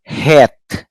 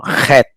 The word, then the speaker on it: Het: It's hey H, but the first one is H na light. The second one is really producing a guttural sound, no? Het, no?